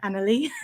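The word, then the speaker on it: Anerley: Party for a place called Crystal Palace and Annalie, which is how it's pronounced.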